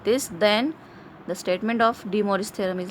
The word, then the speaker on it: De Moivre: The spelling is like this, you can pronounce it as De Moivre's theorem.